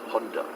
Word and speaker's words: Honda: The rest of the world, Honda. Honda. Yeah. You see that? It's an O, Honda. It's actually an O, but it's Honda.